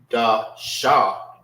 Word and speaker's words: Qadash: Qadash, Salaki. Qadash. So it won't be Da Sha. It's Dash. Dash. Pronounce it that.